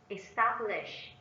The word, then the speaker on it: establish: 2. Establish. Establish. Establish is a verb and is stressed on the second syllable.